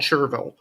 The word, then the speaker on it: Cherryville: gaston county he's from sherville it's it's spelled cherryville but it's it's called chervil and it's uh he